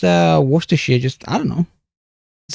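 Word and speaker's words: Worcestershire: Yeah, it's like wor chess chester. She like at the end they pronounce it as why is it not warester? I don't know. We just we just pronounce things weird over here. Winchesteress worshshire I I don't know how other people pronounce it I just pronounce it worshshire sauce shy anyone who knows what that reference is uh get yourself a gold medal but no it's pronounced worers just I don't know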